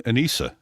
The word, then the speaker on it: Anisa: I think Anisa, right? Yeah. Do I have the name wrong? Anisa, yeah.